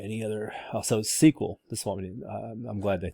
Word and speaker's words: SQL: you're handling data all right any other also sequel this morning i'm glad they talked about this